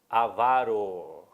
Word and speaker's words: avaro: O certo é avaro. O certo é avaro. Não existe avaro.